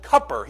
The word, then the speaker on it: Cooper: It's spelled Cooper. There's no U's. He spells it Cupper. That's how he pronounces it.